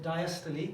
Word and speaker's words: diastole: We've got this word systole, spelled systole, but we pronounce it systole, and we got spelled. It looks like it says diastole, but diastole, the way I've been taught to say it.